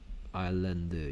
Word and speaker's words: island: The people who live on the island. 이제 아일랜드라고 읽어야 돼요. 아이슬란드 아니야. 됐습니까? 아이슬란드는 이렇게 쓰고요. 저 위에 있는 어떤 나라 이름이야. 됐습니까? S가 발음하지 않습니다. 소리 내지 않습니다.